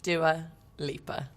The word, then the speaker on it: Dua Lipa: How is Dua Lipa pronounced? Dua Lipa.